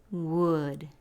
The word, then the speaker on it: would: Se pronuncia would. No se pronuncia la letra L en la palabra.